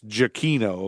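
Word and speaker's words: Giacchino: Anyway, but I got Michael's last name wrong. It's Jacino, according to Wikipedia. Has a little uh parenthesis thing, pronunciation thing. Jacino.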